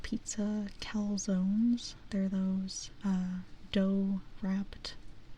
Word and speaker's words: calzones: Uh, yeah, calzones. So the thing about the thing about that word calzones it's a very nice word in English in Spanish we pronounce that caloness and it does not